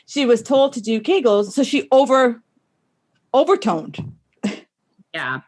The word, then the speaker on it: Kegels: how to pronounce it kegels it rhymes with bagels she was told to do kegels so she over overtoned